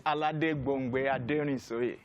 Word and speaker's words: Aladegbongbe Ademorin: You're correcting me on the name, the pronunciation of the name. It's Aladegbongbe Ademorin.